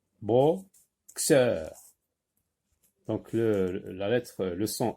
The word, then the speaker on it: boxeur: Donc, c'est un boxeur. Un boxeur. Là, on entend X. X. On entend X. Boxeur. Boxeur.